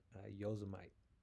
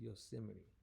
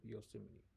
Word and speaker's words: Yosemite: Lauren Powell, 27, at the Awani Lodge in Yosemite. I used to say this because I went to school out in Washington on the West Coast. I used to say Yosemite, and I used to always see like the character Yosemite Sam.